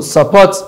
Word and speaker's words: support: So we have this madam support people whether so support is having second syabic stress meanwhile madam people weather